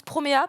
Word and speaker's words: Promare: Alors, Promare, que moi je prononce Promea, parce que bizarrement en katakana c'est comme ça que ça s'écrit.